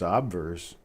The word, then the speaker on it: obverse: it doesn't make sense but the word is pronounced obverse why would you change the pronunciation of a